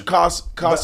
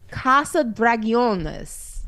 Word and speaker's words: Casa Dragones: I don't think it's Casa Dragons. I'm sure you're supposed to pronounce it a little bit. Casa like Dragones? de No, I can't see it. Dragones? Oh, wait, here we go. Oh, Casa Dragones.